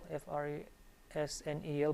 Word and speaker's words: Fresnel: The spelling is Fresnel, F-R-E-S-N-E-L, but it's pronounced Fresnel.